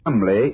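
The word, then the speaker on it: Cholmondeley: reason to know that the name jamley is in no way pronounced the way it is that name spelled c-h-o-l-cell m-o-n mon d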